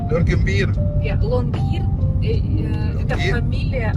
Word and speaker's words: Longyearbyen: How you pronounce the name of the town? Longyearbyen. Longyearbyen.